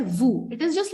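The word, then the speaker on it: vous: different name for that it is not q it is called vu it is just like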